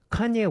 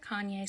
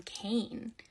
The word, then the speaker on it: Kanye: is 45 likes though I used to pronounce his name Kane because I'm a little dyslexic and that's how I read it but I was part